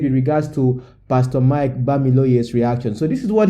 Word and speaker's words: Bamiloye: Mike Bamiloye, not Bamiloye. Okay, Bamiloye.